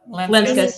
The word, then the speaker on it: Lenskis: Tro and Brian Lenskis, is that how you pronounce it? Leskis? Yes, Lenskis, yeah.